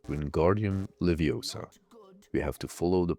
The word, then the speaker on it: Leviosa: We complete the lesson, we learn the spell, and we get the It's pronounced Leviosa, not Leviosa achievement.